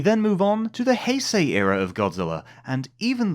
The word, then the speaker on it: Heisei: of changes boy yeah took me ages to work out had to pronounce hyay I always thought it was hey yeah right I had no idea until I heard an actual Japanese person say it good Lord yeah